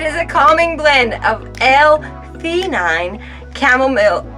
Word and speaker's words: L-theanine: How do you pronounce those words? The calming blend of L-theanine. L-theanine.